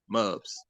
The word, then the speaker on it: Mubz: I think it's either Mubs got music, but it's spelled Mubz. Mubs.